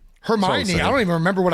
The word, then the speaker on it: Hermione: Hermione. I don't even remember what I thought Hermione was. I I think it was Hermone.